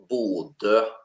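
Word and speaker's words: Bodø: It's pronounced Bodo.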